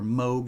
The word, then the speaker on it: Moog: having um having her play her moog instruments on the show or moog as it's pronounced live from radio shack